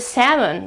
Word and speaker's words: salmon: It had no L, but today it is written with an L. Why? It's because they went back to the original word to the Latin word and it was salmon. Salmon. So they took the L and put it right in the middle of the word. And now we have to remember that there is this this letter here.